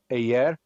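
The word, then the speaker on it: Hyères: We're going to take the boat to Ayer, which is spelled Heyers, but it's pronounced yeah, or okay.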